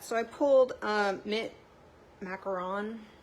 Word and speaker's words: macaron: i pulled a mint macaron how do you say it mac yeah macaron i always want to say it wrong i always want to say macaroon but that's two o's right i think so okay